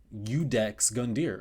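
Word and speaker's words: Iudex Gundyr: Udex Gundier. Oh, I was right. Huh, the more you know. Anyways, games like Dark Souls 3I force you to fight Udex Gundier before you can do anything in the game,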